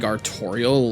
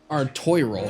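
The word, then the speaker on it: Artoirel: Also, have I actually been pronouncing his name like Arttorial? Like the character in Undertale? That's actually funny to me. Is it Artorial? That's what it is. Artoy roll. Not Artorial like the character from Undertale.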